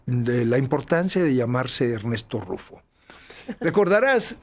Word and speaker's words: Ernest: La importancia de llamarse Ernesto, que es un juego de Ernesto es un juego de palabras en el inglés que se pronuncia prácticamente igual, Ernest.